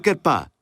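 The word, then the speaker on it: חרפה: La palabra afrenta, kerpá.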